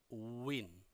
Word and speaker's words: win: 확실하게 되니까 차이가 있죠 그냥 윈 이러면 은 다름이 좀 이상 하구요 어우 인 5인 1호 오셔야 실제 발음과 유사하다 라는 겁니다 자 그 다음 단어는